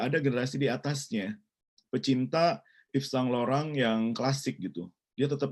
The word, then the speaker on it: Yves Saint Laurent: Tapi kalau secara bahasa Perancis ini Yves Saint Laurent gitu ya.